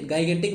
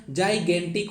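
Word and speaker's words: gigantic: तो इसको आपसे गाइगेंटिक मत पढ़िएगा, जाइगेंटिक होता है, जाइगेंटिक।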